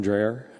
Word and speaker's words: Dreyer: the record please uh tom dreyer uh dre er spelled like the ice cream david grineer g-r-e-n-i-e-r thank